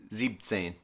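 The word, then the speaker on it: siebzehn: zeben but we said zebtsen so for seven when you go to say 17 you were gonna i guess you could say chop off an en so instead of zebin saying you'd say zebtsen all right so now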